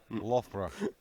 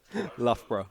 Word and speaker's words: Loughborough: Loughborough. Loughborough. Loughborough. I was close. I'm going to make you pronounce the Russian ones.